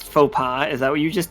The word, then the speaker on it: faux pas: know the folk the faux Paws that's a French word I can't use that I I don't know the Opex did you just print Did you phonetically pronounce faux pas is that what you